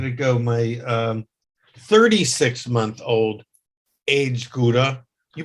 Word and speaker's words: Gouda: My 36-month-old aged Gouda. You pronounce it Gouda? The Dutch would pronounce it like Khowda. Gouda.